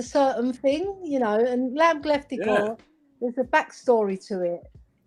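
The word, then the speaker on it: kleftiko: How do do. you pronounce that? Gleftigo. Kleftic. Gleftico. Yeah, lamb gleftigo. Oh man, that sounds delicious.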